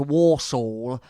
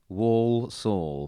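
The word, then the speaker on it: Walsall: thriller at home to warsaw not warsaw wall saw yes yeah um it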